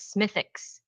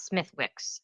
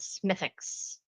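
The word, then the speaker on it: Smithwick's: pronounced in Ireland as Smithix, not Smith Wixs. So, the W is silent. Smithix.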